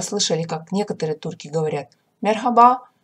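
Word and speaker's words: merhaba: на раба так вот мерхаба говорить конечно же правильно и то есть если она есть это буква в слове то конечно же она должна читаться и произноситься но очень слабо как на выдохе с точкой это буква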